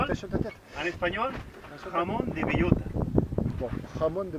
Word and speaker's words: bellota: jamón de bellota. Bon, jamón de bellota.